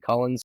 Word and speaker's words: Collins: I believe he pronounces it Cullens, but it's spelled Collins.